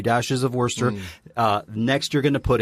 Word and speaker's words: Worcester: No, but Worcester in England is a place. Yeah. Which is spelt Worcester. Right. But we say Worcester.